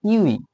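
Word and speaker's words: ewe: তাহলে এটার উচ্চারণ দেখেন, আপনি উচ্চারণটা করেন ইউই, ইউই, তার মানে কি ইউ এর মতো উচ্চারিত হচ্ছে, তাহলে এর পূর্বে কি বসবে, এ বসবে।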